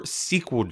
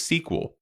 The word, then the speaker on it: SQL: more about what is SQL. Well, it's either pronounced as SQL or SQL. You'll see that both are used very often within the production world.